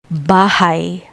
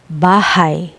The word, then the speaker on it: bahay: I, like the English word why. Example, bahay, bahay, meaning house.